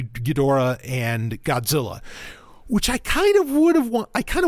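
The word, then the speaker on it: Ghidorah: that destroyed their planet that being gadora or gedra I'll try and say gadora since that's how they pronounce it in it um and there's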